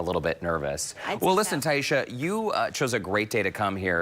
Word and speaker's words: Taisha: my family is Jamaican so they pronounced it Tysha Taisha Tysha Taisha instead of Taisha so I go by Taisha because I figured three syllables would be easier for people to get okay I get to